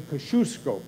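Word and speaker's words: Kosciuszko: across the aisle we now call it the Kosciusko bridge which was the proper pronunciation as I've learned numerous times there in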